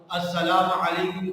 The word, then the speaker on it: السلام علیکم: ہمارا صحیح ہونا چاہیے۔ بعض لوگ السلام علیکم کی جگہ سلام علیکم، السلام علیکم واو بھی بیچ میں لگا دیتے ہیں، یہ واو نہیں ہے، میم پہ پیش آئے گا، جس طرح